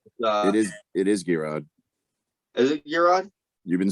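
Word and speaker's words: Geirrod: you've gotten it oh gerard how do you spell it no it's not euron no it's not uh it is it is g-rod is it euron you've been saying it all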